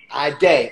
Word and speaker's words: Ayydé: Yup, that's how you say it. Ayydé.